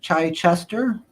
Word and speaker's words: Chichester: Chichester.